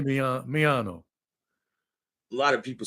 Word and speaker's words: Miano: Well, you're just pronouncing it the way you're pronouncing it. It's me. I say Miano. A lot of people say Miano, right?